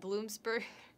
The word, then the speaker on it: Bloomsburg: To the Confer Radio Talent Institute at Bloomsburg University.